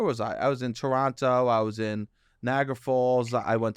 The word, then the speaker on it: Toronto: crying correcting me like don't pronounce the second T oh really Toronto already annoying um